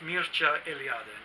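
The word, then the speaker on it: Mircea Eliade: is from Romania I'm not sure how you would pronounce his name in English maybe Mircea you know I ad or something I don't know but in Romanian it's pronounced Mucha alien he was one of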